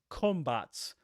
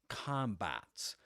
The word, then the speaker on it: combat: In British English, that's combat. That is that the first syllable rhymes with words like stop, or, with an o, right?